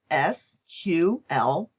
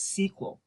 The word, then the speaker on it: SQL: SQL is sometimes pronounced as SQL and other times as SQL.